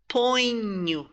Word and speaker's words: ponho: So, eu ponho. You see? Ponho. It's like we're saying you at the end there. Eu ponho.